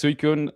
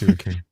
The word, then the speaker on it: Suicune: Uh but yeah, this Suicune rare PDG Akihabara minty find these days.